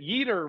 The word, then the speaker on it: Yetur: Yetur rhymes with Jeter.